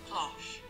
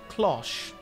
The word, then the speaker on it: cloches: Alright, this is according to Merriam-Webster. Closh. You said it right. Closh.